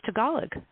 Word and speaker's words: Tagalog: many languages out there, and I've been emphasizing the wrong syllable for I can't tell you for you know years what? and years and years. It's all good. You were today years old when it was Tagalog.